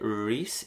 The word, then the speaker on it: Rees: sepas pronunciar mi nombre se dice ris en inglés mi nombre oficial es